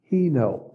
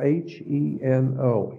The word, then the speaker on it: heno: The word is Heno. It's spelled H-E-N-O, Heno.